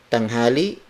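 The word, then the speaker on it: tanghali: of day which is tom hollie tom hollie tom hollie means high noon it is spelled as T a and G H a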